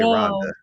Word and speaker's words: Rwanda: so I have and they don't pronounce the W in Rwanda either they say Rhonda but um uh you